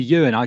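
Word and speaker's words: Euan: Call me Ewan.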